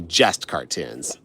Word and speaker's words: JestKartoons: But if you say it fast enough, it sounds like the word just, like JUST. So it sounds like just cartoons, but it's actually JestKartoons.